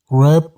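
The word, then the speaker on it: wrap: रैप up your clothes. रैप up your clothes. रैप में W silent होगा।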